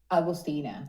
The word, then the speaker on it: Agustina: Is that how we say it properly? Augustino or Augustina? Yeah, Agustina. But Augustina.